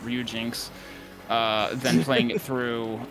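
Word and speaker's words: Ryujinx: uh ryuen X or Ryu Jinx I I always want to just pronounce the X separate but I'm pretty sure it's just ru Jinx uh than playing it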